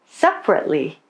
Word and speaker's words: separately: Dropped syllables are syllables that many people don't pronounce in the middle of a word. They're usually unstressed. For example, we usually say broccoli, separately, camera.